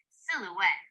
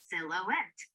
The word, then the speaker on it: silhouette: love that s howting silhouette like many French words has a lot of letters that aren't pronounced we can break this word into three syllables Sil o silouette okay great all right